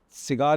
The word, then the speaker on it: CIGAER: By the way, cigar is spelled as c i g a e r but we pronounce it as cigar.